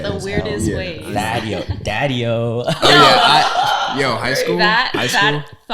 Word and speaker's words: Thadieo: Because I was trying to pronounce yours earlier. I was looking at your Instagram. So it's Thadeo. Thadeo? Yeah, Thadeo. People fucking say it the yes. weirdest Yeah. ways. Thadeo.